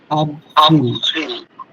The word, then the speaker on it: avril: G, which means এপ্রিলের মধ্যে আরটা উচ্চারণ হবে। আব্রিল, আবহিল মানে আরটা ই উচ্চারণ হবে।